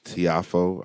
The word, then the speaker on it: Tiafoe: got uh the local pg county product uh tiafoe i believe that's how you pronounce it francis francis tiafoe yeah so he